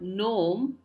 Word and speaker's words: gnome: the S is silent in the word gnome the we not saying gome which you would probably read it like but uh here the g is silent so we say gome next word is Knuckles